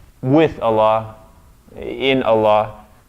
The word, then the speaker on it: Allah: a previous session that the lam here is emphatic. It's the only case in which it will be emphatic in the name of Allah. Therefore, the vowel that comes after that lam is ah and not a.